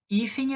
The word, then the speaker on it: hífen: palavra hífen o hífen hífen é paroxítona por quê porque eu vou contar o final para o começo então se fosse fem